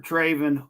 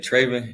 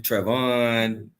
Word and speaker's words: Trevin: Trevin Wallace. Goodness. Welcome into the show, man. How you doing? I'm doing good. And you said Trevin. It's Trevin.